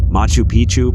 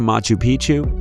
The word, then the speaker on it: Machu Picchu: Machu Picchu, Peru. When a place rhymes with picture, you can almost bet it will always give breathtaking images every time.